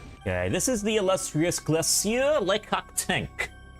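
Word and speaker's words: Glacier Le Cactank: I put a French accent on whenever I pronounce that name. Because it sounds like there is one.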